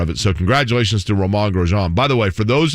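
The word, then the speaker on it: Romain Grosjean: him once i'm like how do you introduce your name like if you say your name how do you say it he's like roman grosjean i mean the inn kind of subtly comes in but it's real mag grosjean okay jake he's the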